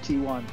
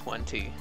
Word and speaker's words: 1T: you keep calling him T1. You go back and forth. Because T1 is one how T. I gifted his name, but his name is pronounced correctly as 1T.